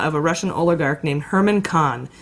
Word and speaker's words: Herman Kahn: a Russian oligarch named Herman Kahn which is spelled like German Cohn but it's Herman Kahn who runs alpha bank